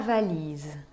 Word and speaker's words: valise: Podemos pegar, por exemplo, dans ma valise. Dans ma valise, valise. Né? Se insiste no I na penúltima sílaba, porque a última sílaba contém um E mudo.